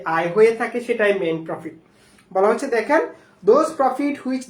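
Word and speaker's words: mesne profit: উচ্চারণ করেন এটা এটা এম এস এন ই কিন্তু উচ্চারণ হচ্ছে মেইন প্রফিট মেইন প্রফিট মানে হচ্ছে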